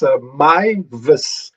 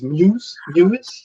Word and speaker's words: Mivas: It's Mivas. I thought it was Muse, like the guy in Clark's. Jason Muse. But no, it's Mivas.